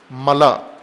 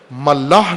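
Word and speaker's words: ملأ: یہاں بھی کی ہے، ملا، ملاح نہیں ہے، غلط تلفظ کرتے ہیں بعض، ملا، میم لام الف حمزہ، ملا حمزہ کے ساتھ، خلا جس طرح کہتے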